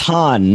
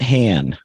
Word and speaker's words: Han: Just like it's Han, not Han. That's right.